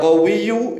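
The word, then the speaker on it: قَوِيُّ: Perhatikan cara membacanya. Ya qawiyyu yu-nya dibaca, ya matinu nu-nya juga dibaca.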